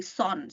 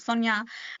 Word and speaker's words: Sonia: Anyway, so my name has been shortened by some of my Caucasian colleagues to be Son. So people do call me Son instead of Sonia, because apparently adding that extra syllable is hard on their tongue for some reason.